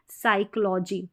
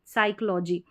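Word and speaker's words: psychology: होगा हॉर्स हो गया पी एस पी एस को भी हम स पढ़ेंगे जैसे कि साइकोलॉजी साइकोलॉजी तो यहां पर जो है पी जो है वो साइलेंट है पीएस में डबल एस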